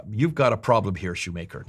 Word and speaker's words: Schumacher: got a problem here, Shoemaker, not Schumacher, that's the German pronunciation.